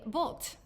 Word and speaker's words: Bult: everyone today I'm here with my guest bolt I said it right right you did yeah